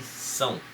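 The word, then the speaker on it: Samhain: a escrita dela, mas pronuncia-se São, que é em gaélico, que seria a língua deles, a língua que é falada lá na Irlanda e no país de Gales.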